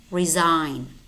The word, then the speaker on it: resign: And we also have words which contain the letter G, but it is silent. Gnome, rain, diaphragm, sign, Nash, gnat, design, design, campaign, foreigner, tongue, resign.